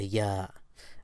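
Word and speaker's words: ي: in the word yes the Y of yes reminds me of the Y sound of the y now let's practice pronouncing the letter yah as usual first the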